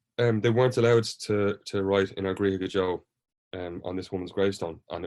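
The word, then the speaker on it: In ár gCroíthe go deo: which, if you could tell me the correct pronunciation of the title of the opening track. It's called In Our Griha Gajo.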